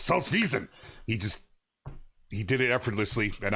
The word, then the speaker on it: Salzwiesen: If you want to say it right, you have to put a little anger behind your voice." Salzwiesen.